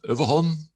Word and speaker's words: Överholm: he is called overhaul hello i just learned that that's the way we should pronounce it in swedish thank you thank you